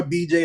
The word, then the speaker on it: BeeJ: the whole just just flat out no more bj no more just one syllable all the way out now now does that